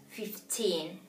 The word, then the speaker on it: fifteen: clearly right she said yes fifteen is a little bit more in the in terms of pronunciation is stress a little bit more in the end fifteen so we have 15